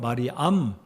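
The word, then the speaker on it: Μαριάμ: 여러분 마리아 이름의 뜻은 헬라어 발음은 말이 암인데요 말이 암 마리암의 이름의 의미는 구약성경의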